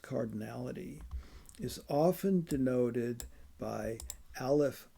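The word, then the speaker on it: aleph: It's pronounced olif. A l e p.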